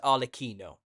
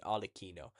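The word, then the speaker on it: Arlecchino: c h i n o Al so it's pronounced arino this the Italian pronun of Harley Quinn arino so this is him this is the new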